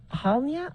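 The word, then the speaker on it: Halyna: sheriff's report said the film's Director of Photography halia I feel bad I'm saying her name wrong h a l y n a Hutchin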